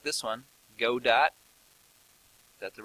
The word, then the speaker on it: Godot: available oh I haven't looked like this one Godot that's the right pronunciation some of these game engines is simply